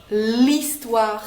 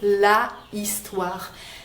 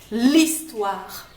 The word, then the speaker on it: histoire: consonne h effectivement mais le h au début d'un mot souvent en français ne se prononce pas c'est ce qu'on appelle